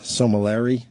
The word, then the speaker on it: sommelier: only the 9th person to pass the master sommelier, that guy, the sommelier, whatever, exam on the first attempt, and one of fewer than 200 master.